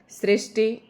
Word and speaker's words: सृष्टि: अगला शब्द है सृष्टि। सृष्टि श और श के नीचे जो है ऋ की मात्रा है। ये सृष्टि सृष्टि तो इस तरीके से श के नीचे ऋ की मात्रा आ श षट्कोण वाला श और ट के बड़ी ई की मात्रा। सृष्टि तो इस तरीके से हम इसका उच्चारण करेंगे।